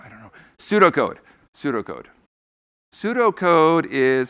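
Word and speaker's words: pseudocode: How do you say that? Why is the P in there? I don't know. Pseudo code.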